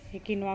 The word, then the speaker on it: quinoa: इसका प्रोनाउंसिएशन जो है, एक तो इसको किनवा बोलते हैं, नहीं तो फिर किनवा बोलते हैं,